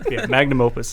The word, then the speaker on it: magnum opus: are saying it because oh that's not how i'm saying it you guys are wrong magnum opus is usually how it's said all right cool glad